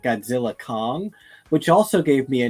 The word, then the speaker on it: Godzilla x Kong: explained to me that the X in the middle is not pronounced so it's just Godzilla Kong which also gave me